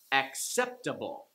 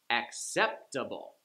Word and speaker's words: acceptable: Acceptable, Like the 4-syllable words, it's the third from the last syllable that gets the stress. Acceptable.